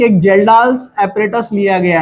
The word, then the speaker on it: Kjeldahl: Again estimation of nitrogen as a ammonia from जेल्डाल्स method. इसको बंद कर दो। चलिए आगे बढ़ते हैं हम जेल्डाल्स मेथड। जेल्डाल्स मेथड, इसमें के साइलेंट है जेल्डाल में।